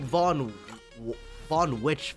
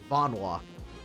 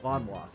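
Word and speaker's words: Vonwacq: what happened to the Galaxy Rangers back on Vonwok? That's how you pronounce that? I've said like von von witch for some reason whenever I see this word. Vonwok. Vonwok.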